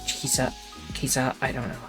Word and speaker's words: Caesar: His name was not pronounced that way. I think it's closer to Kaisar. Ker. It's like Kizar.